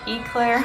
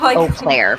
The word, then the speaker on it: Eau Claire: Is it Eclair? I think it's Eau Claire, but I'm not sure. Eau Claire? I think it's Eau Claire. Mm-hmm. Like I was pronouncing it like the pastry.